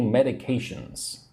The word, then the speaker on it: medication: Are you allergic to any medications? Medication is like a drug. Medicine. Right. Say the word with me. Medication. Four syllables. Medication. Medication. One, two, three. The third syllable needs to be emphasized.